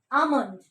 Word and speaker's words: almond: Almond. It is silent. Okay. Almond.